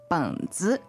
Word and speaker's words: 本子: 本子, 本子. So that's another third tone, but then a neutral tone following it, right?